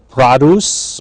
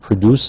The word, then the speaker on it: produce: Produce, notice this pronunciation, not produce is the verb, but the noun produce, referring to fruits and vegetables at the grocery.